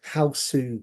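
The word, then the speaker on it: ハウス: It's a gu or a su because right there's no letter s on its own or g on its own.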